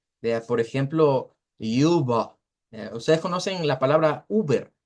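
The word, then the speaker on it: über: I redonda es esta la u se pronuncia Así es una u con diéresis y se pronuncia al final la e con lo que es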